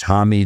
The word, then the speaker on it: Homme: Just with Uh Josh Hammy. Josh homie. Josh. I say hamie, but nobody knows. Yeah. I mean, I used to say home before I even realized.